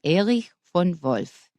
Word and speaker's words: Erich von Wolf: Now, the first time I read it, I said Erich von Wolf. That's American, an American pronunciation. In German, it would be Erich von Wolf.